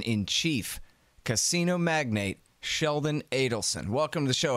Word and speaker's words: Adelson: so rich yeah so I think it's actually Adelson although people seem to pronounce it both ways okay his people say Allison you know he is